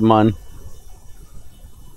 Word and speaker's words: Mun: He pronounces it Mun.